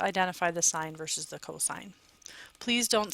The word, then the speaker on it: cosine: different pieces to identify the sign versus the cosine please don't say C okay make sure that you pronounce it correctly it should be cosine even when it's abbreviated cosos the last one